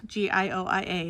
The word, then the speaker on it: Gioia: And I checked, that's how it's pronounced. G I O I A, it's Gioia.